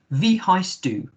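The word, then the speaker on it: wie heißt du: that v hi stu remember that w makes a v sound so v heist do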